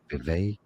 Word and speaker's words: Vivek: Vivek. Vivek. Okay, got it. Vivek like cake.